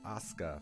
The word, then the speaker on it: Asuka: Like the wrestler. I don't know the wrestler. All right, Asuka. Fine. The U is silent.